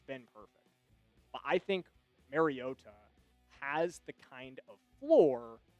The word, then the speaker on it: Mariota: When I was going down the list of guys that could potentially do some fill-in work, Marcus Mariota or Mariota, excuse me, kind of corrected his pronunciation on a broadcast pretty recently.